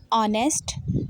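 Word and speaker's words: honest: It encourages facing both success and failure with the same काम attitude, staying patient and determined and being ऑनेस्ट। ठीक है जी, एच इसमें silent होता है and humble.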